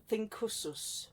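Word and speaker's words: Thincsus: So you got Mars, Thinkusus, I think. Think with the C, but it's a hard C.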